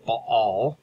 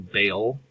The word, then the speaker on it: Baal: to talk about is Bal it's a two syllable word with a glottal stop in the middle sometimes pronouncing Bale or ball um ball is the